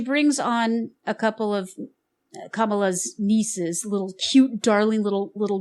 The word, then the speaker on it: Kamala: Kamala is not how it's pronounced. And not even how even she herself used to pronounce it that way. Kamala, or Kamala, actually it's Kamala.